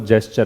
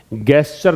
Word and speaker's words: gesture: सबसे पहली बात तो इसका प्रोनाउंसिएशन जो है वो जेस्चर है ना, गेस्चर नहीं पढ़ना है। जी का उच्चारण जो यहां पे है वो गे नहीं है, जय है, जेस्चर है।